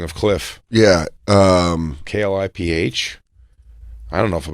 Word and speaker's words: Kliph: Kliph. I don't know if I'm going to listen to a guy whose name is spelled like that.